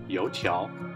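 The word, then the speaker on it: 油条: and a Chinese sandwich this hauling thing is called a Chinese doughnut stick or in their language it is pronounced yo Chow eating this with soy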